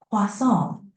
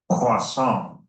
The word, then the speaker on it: croissant: Croissant. Pretty close. Try emphasizing the nasal sound at the end a bit more, like croissant. How's that feel? Croissant.